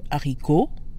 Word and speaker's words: haricot: Because the H is aspirated, we don't truncate le to L apostrophe.